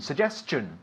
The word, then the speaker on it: suggestion: And in English, how do you pronounce it? Suggestion. Suggestion. Suggestion. Suggestion. Not chion. No, chun. Chun. Suggestion.